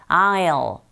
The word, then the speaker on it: I'll: I will이 축약되었기 때문에 소리도 단축되어집니다. 그래서 I will로 들리지 않고 I'll. 이 L 사운드 자체가 뒤에서 나오는 다크 L 사운드인지라 혀끝이 윗니 뒤에 이렇게 올라가면서 붙는 그런 혀의 위치를 기억하면서 발음하시면 돼요.